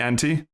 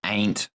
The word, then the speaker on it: ante: I think it's pronounced ain't. Ain't. Ah, yes. Because it's like one of those E's that bossy and it tells it.